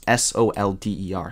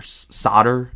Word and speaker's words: solder: S-O-L-D-E-R. Solder. Solder. That's how you say it. Why is there a silent L in solder?